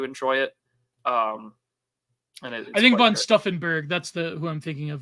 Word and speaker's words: von Stauffenberg: And I think von Stauffenberg.